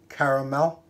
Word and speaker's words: Caramello: Caramello. Just my pronunciation's all over the place today, but you have to excuse me.